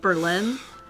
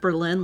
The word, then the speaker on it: Berlin: Wisconsin has a Berlin, but it's not pronounced Berlin like Germany. It's pronounced Berlin on purpose cuz in World War II, they decided to change how they pronounced it.